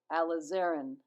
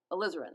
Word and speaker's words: alizarin: nicely with alizarin crimson I said it wrong again Oh a lazarenn alizarin alizarin that's right alizarin crimson and with